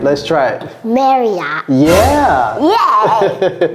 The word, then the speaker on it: Marriott: What do we, Cody, do you know how to pronounce this? I do. All right, let's try it. Marriott. Yeah. Yeah. Marriott.